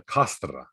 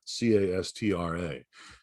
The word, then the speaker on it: castra: in latin is a castra c-a-s-t-r-a castra and in over time in the classical latin the c is pronounced like a k but over time in